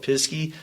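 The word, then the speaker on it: Pisgah: There's Pisky, which looks like it's spelled Pisca, but the locals call it Pisky.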